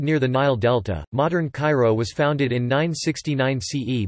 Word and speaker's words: Cairo: Cairo, K-Y-Ro, Arabic, Al-Qart Al-Kahira, pronounced Al-Q-Haya, pronunciation, Coptic, Kasharomi, is the capital of Egypt.